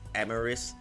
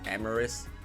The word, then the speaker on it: Amoris: forgot how it was pronounced I think it's amaris then I keep pronouncing as amaris because it reminds me of